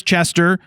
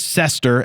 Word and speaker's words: Cester: Turning the page to 36 and 37, we've got Chris Chester or Chris Cester as I believe they pronounce it from the band Jet.